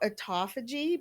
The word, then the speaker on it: autophagy: they'd know how to look it up sure it's spelled a-u-t-o-p-h-a-g-y autophagy i said it afterwards you are a